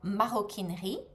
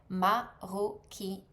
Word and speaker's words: maroquinerie: So, leather leather goods and leather craft is called maroquinerie. Maroquinerie.